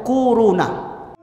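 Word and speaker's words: كورونا: Bacanya tuh kuruna.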